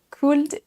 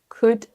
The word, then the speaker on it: could: Tous ces mots sont piégeurs parce qu'ils ont un L silencieux. On ne dit pas walk, talk, would, could et should.